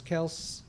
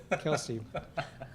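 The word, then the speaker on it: Kelce: with Jason and Travis Kels. Is it Kels or Kelsey? Kelsey.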